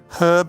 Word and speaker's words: herb: For any North American viewers who are confused right now, we pronounce it herb because it has an H at the start.